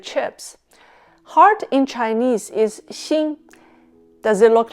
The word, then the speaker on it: 心: Both words xin and xin have the same pronunciation but different meanings.